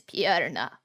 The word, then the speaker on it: Purna: pretty good yeah how does he pronounce it purena he says so is he scottish like meredith no oh let's see he sounds like this my name is piarna okay are you like that are you also